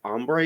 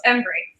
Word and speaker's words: Embree: Systems in Austin today we're joined by ombre is that how I pronounce it is that correct close Embry embre okay and she is the director for tulip